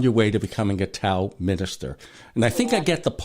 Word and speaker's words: Tao: bring the principles of Tao into your everyday life, everyday living. I guess I have to start saying Tao instead of Tao. Yes, it is pronounced like a D.